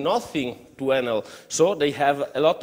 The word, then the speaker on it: Enel: Enel is, I think, in Italian we pronunciate it Enel.